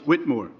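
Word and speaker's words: Witmer: I'm saying it wrong it's w i t m e r Place Whitmore Whitmore okay that's me 150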